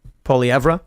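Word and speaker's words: Poilievre: trau actively covered up what how do you pronounce it Pier poeva poeva yeah there you go uh TR Trudeau actively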